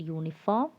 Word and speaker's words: uniform: Here also the word uniform is starting with the sound Y.